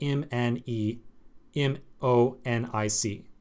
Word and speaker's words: mnemonic: word mnemonic as you see right here so m n e m o n i c that means or it's pronounced mnemonic in a mnemonic essentially is a